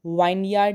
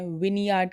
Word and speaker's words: vineyard: VINEYARD इसे हम वाइनयार्ड नहीं कहते हैं, विनयार्ड कहते हैं।